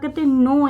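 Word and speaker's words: know: Those हूँ जो लोग क्या करते हैं, नो यानी कि जानते हैं, के साइलेंट रहता है, इसको नो पढ़ा जाता है, नो।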